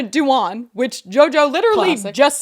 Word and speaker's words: Dewan: then she found out later that Jenna Doom was lesbian and then last but not least in that one sentence she mispronounces Jenna Dewan which JoJo literally just